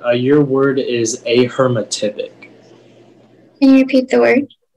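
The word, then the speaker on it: ahermatypic: plus an english part are there any alternate pronunciations it's just the one a hermetic a hermetic a h e r m a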